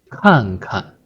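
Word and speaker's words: 看看: The first is to stress, and the second, you give a gentle push.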